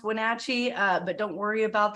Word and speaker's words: Wenatchee: there on purpose okay wonderful yes it is pronounced Wenatchee uh but don't worry about that it really